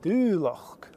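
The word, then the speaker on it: Dùbhlachd: and do lock so there's a long u sound here because of the accent mark and there's also a k sound at the end that's the CHD and do lock and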